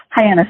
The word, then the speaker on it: Hyannis: back to your childhood you grew up and pronounce Hyannis Hyannis is yes I mean I didn't want to